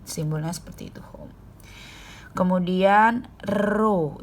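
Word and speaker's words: rho: seperti itu home kemudian roh ini dibacanya ruh itu adalah hambatan Hai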